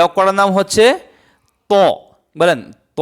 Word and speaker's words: ط: এ অক্ষরটার নাম হচ্ছে ত বলেন ত অক্ষটা দেখতে কিরকম?